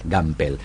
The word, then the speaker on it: Gampel: Así se pronuncia. Gampel.